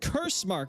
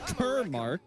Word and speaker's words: Cursemark: No, it's pronounced cursemark, not kermark.